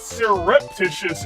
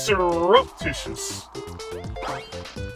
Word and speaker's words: surreptitious: a uh because it's not surreptitious it's surreptitious surreptitious the E is making like the E is making like a u sound next thing you're